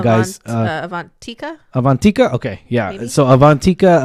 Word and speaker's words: Avantika: Karen um she was uh she actually is avania I'm I'm sorry if I'm pronouncing that totally wrong guys avantika avantika okay yeah so avantika avania um you